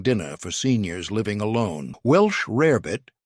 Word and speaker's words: rarebit: Welsh rarebit, often mispronounced as rabbit, was originally a British dish.